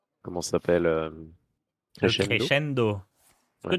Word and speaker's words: crescendo: crescendo. Est-ce que Ouais. tu peux prononcer crescendo à l'italienne, s'il te plaît? Mes oreilles me saignent. Crescendo! Voilà, j'aime mieux ça.